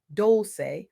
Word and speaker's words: Dolce: I'm your host, Dolce, pronounced Dolce, like sweet softness whispered in French, and I'm your guide